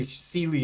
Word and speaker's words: Seelie: when we're looking at the Seelie and the Unseelie, for example, or the Sheelie and Unsheelie, depending on which pronunciation you prefer, they would be better